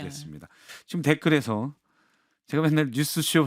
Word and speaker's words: 뉴스쇼: 그래서 박성태 앵커가 그렇게 생각하고 뉴스와 쇼 사이를 0.0001 초만 쉬어도 훨씬 발음하기가 쉬우실 거예요. 한번 해 보시겠어요? 아니 모범을 한번 네. 보여주시면. 박성태 뉴스 쇼.